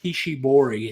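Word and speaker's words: Kishibori: I've been buying for a while it's called Kishi bori and that's spelled k i sh i b o r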